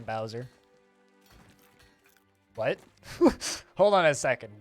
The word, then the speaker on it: Bowser: society i don't even it's pronounced bowser and not bowser uh who says bozer it's always been bowser what hold on a